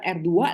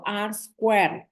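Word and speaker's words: R²: squ ya lucu ya bacanya bukan R2 loh bacanya itu R squ R squ Kenapa karena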